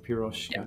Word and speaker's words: Piroska: last one was Yan GOI H piroska okay piroska piroska today I'm excited to have piroska visits